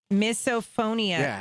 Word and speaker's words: misophonia: Like miso soup.